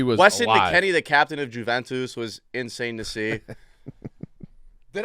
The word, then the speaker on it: Juventus: that that's how you say it bro you guys don't watch ball it's Juventus Juventus you're putting so much stink on Juventus what was the what